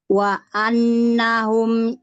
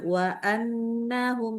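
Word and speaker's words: وأنهم: Nah, ada nun tasydid ya. Ditengungnya lebih panjang. Jadi jangan wa annahum, tapi wa annahum. Nah, lebih panjang sedikit.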